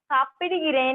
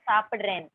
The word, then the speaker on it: சாப்பிடுறேன்: No, சாப்பிடுகிறேன் is written Tamil. சாப்பிடுகிறேன். Okay. The spoken is சாப்பிடுறேன். நான் சாப்பிடுறேன். Okay. Okay. நான் சாப்பிடுறேன்.